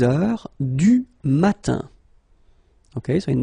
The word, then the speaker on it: heure: Il est 6 heures. All right, so you write it like that. Remember, H is not pronounced, okay? So it goes like heure.